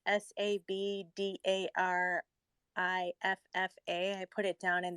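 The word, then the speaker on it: sabdariffa: I just wanted to speak on the hibiscus tea is typically from it's I'm gonna try to pronounce this Sabdarifa. It's Sabdarifa.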